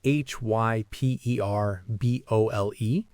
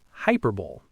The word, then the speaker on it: hyperbole: And so the most common mistake is to pronounce it as hyper bowl. Right? Like a very energetic sports event. But that's completely incorrect. The actual pronunciation is quite different. It has four syllables, not two, and the stress is on the second syllable.